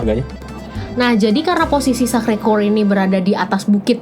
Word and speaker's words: Sacré-Cœur: Gimana cara bacanya? Sacré-Cœur.